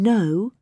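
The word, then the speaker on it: know: hear a k in no can you hear a p in cupboard no i can't no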